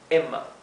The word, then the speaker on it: Emma: Y cuando la E, o cualquier otra vocal, está seguida por una doble consonante, como aquí, es una E, es una vocal bien cortita, Emma, Emma, ¿sí? Se pronuncia más la M, que es doble, que la E, Emma, ¿sí?